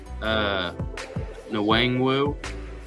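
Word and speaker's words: Nwangwu: and wide receivers, Kene Wangwu, I think the N is silent, the first one, from Iowa State.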